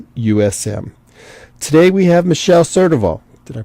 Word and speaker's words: Surdoval: and Underwriters or USM today we have Michelle certival did I pronounce it right you did all right oh